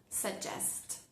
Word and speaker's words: suggest: Sugest.